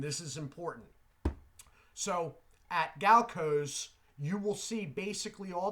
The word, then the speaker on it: Galco's: I used to pronounce this Galacio's, but now recently I have realized there is no I between the L and C. So I'm going to say Galco's.